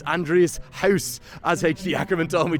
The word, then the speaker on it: Gous: So in the books, it's Andrees Gous, as H.D. Ackerman told me to correctly pronounce it.